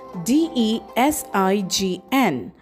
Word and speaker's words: design: Next we have design spelled as d e s i g n and we pronounce it as d e s i n